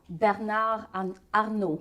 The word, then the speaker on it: Bernard Arnault: Bernard Arnault.